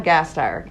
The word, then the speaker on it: Gasteyer: It's definitely Anna Gasteyer.